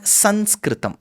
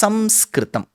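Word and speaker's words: संस्कृतम्: See uh both are right um rightfully it is samskrum. Okay it's not sanskritum. It's samskrittam. That's how you write it.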